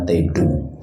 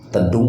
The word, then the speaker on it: Tidung: Tedung apa Tidung dibacanya? Tidung, salah lagi nah.